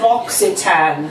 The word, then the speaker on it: L'Occitane: You've got Joe Malone, you've got L'Occitane, and I should just quickly tell you how to pronounce L'Occitane. Yeah. L'Occitane.